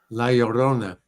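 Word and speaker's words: La Llorona: How do you How do you pronounce this, Carl? Leorona. Okay. Laorona.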